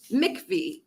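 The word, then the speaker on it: MIECHV: childhood home visiting program or MCV as it's pronounced that was authorized for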